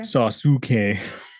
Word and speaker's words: Sasuke: Why is his name spelled differently than you say it? That's how you say it in Japan, though. But you don't pronounce use? Not really. Weird. It depends on where they fall in the name.